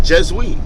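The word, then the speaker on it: je suis: if you check this i am in french is jezui it's spelled j-e-s-u-i-s that's jesus and we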